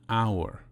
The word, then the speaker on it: hour: We say an uncle, but we say a university. Why? The letter H at the beginning of the word hour is silent.